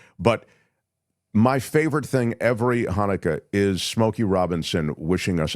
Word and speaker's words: Hanukkah: So somebody said they wanted to, get a Hanukkah greeting from Smokey Robinson. So you go to Cameo and you pay a certain amount, and then they just write it out, Hanukkah, but he pronounced it Chinooka, and it's still my favorite.